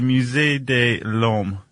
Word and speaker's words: Musée de l'Homme: And that is in Paris at the You're going to pronounce that one for me? Uh the Musée de l'Homme.